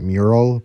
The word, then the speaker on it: Mural: such a good song 90 sure it's pronounced mural but all right uh 27